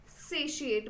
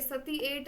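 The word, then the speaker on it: satiate: next word आता है सेसट बहुत बच्चों को इसे प्रोनाउंस करना नहीं आता एस ए टी आई ए टी सेट ठीक है सती एट नहीं है य अब यहां पर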